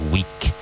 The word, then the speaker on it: weak: Weak. Pronounced the same as weak as in Samana, but spelled W-E-A-K. And in these words, make sure you pronounce that final consonant.